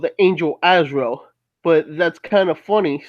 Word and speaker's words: Azrael: It said Azariel as being Twasi Malik for governing Sunday. Yeah, but it's actually pronounced Azrael, which is actually called the angel of death, which is kind of I don't know.